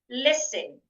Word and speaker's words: listen: So, I should not say listen. Listen. Some people they change the s here to a zed.